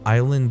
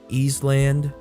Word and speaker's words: island: to the class and pronounced island as Eastland.